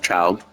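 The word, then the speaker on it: Childe: Anyway, it involves Choldi, pronounced child.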